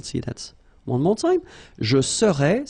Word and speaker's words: serais: Je serais, same thing here, final S not pronounced. Tu serais, final S not pronounced.